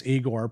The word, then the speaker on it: Igor: Yes, Eigor pronounced like in Young Frankenstein.